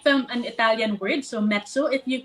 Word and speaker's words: Mezzo: So mezzo, if you pronounce it, you can pronounce it as pizza, mezzo or pizza. So that's way it's easier for you to recall the name.